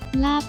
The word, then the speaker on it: ลาภ: ยีราฟ อ่าน ว่า ยีราฟ ลาภ อ่าน ว่า ลาบ นก พิราบ อ่าน ว่า